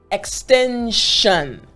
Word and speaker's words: extension: the word right however this combination s i o n sounds like this shun shun so i want you